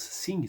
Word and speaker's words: Synge: Ça se prononce Synge, ça s'écrit S-Y-N-G-E, The Playboy of the